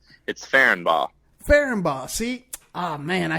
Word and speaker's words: Ferenbaugh: It's Ferenbaugh.